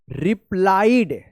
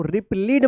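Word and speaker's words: replied: सो लो Oliver asked ओलवर asked पीप रिप्लाईड क्या पढ़ेंगे इसको? रिप्लीड मत पढ़िएगा। आई ई है। तो इसका उच्चारण ई नहीं होगा क्योंकि लास्ट में यहां पे डी है।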